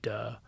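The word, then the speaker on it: 德: translation for it and unfortunately in mandarin it's pronounced duh that's hilarious it's called uh yeah but it's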